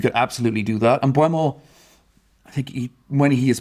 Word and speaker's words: Mbeumo: And Mbeumo, I think when he has played Arsenal previously, he's troubled them as well. Also, forgive me, I keep saying his name wrong. It's Mbeumo, isn't it? Mbeumo, yeah.